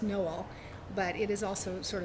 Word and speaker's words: Noel: It's going to be Love Finds You in Noel, Missouri, and so it will be a Christmas book. Although the actual town name is pronounced Noel, but it is also sort of a Christmas